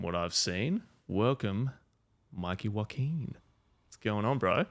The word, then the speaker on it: Joaquin: what's going on bro it feels nice to have someone say my name properly yeah yeah I you know why I learned it I learned it from walking Phoenix yeah yeah cuz I on Jin my dad keeps saying jokin like it's not that's